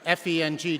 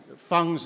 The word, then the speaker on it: Feng: In Mandarin Chinese, Dr. F-E-N-G, Dr. Feng's name is pronounced Feng, not Feng.